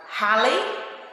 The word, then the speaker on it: Halley: início de algumas palavras ele pode ter o som do R lembra que ontem na aula de ciência das falamos de um cometa chamado Halley e hare se escreve com h Mas ele tem um som do R tá Robson alguns em escrito